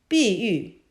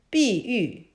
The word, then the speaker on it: 碧玉: Please follow me to pronounce it. 碧玉碧玉碧玉 Now let's take 碧 apart to learn more Chinese words.